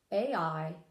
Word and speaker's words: Ai: up and I found three different ways to pronounce it I found I a I an AE I was taught that it was